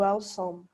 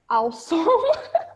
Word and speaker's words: awesome: Normalmente, galera, quando a gente vai pronunciar o adjetivo incrível, muita gente fica preso nessas duas letras aqui, ó, que eu vou destacar de vermelho, tá? Que é o WE. Muita gente pronuncia awesome, sabe?